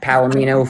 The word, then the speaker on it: Palimeno: It's Palamino for It's Palamino for G A D1.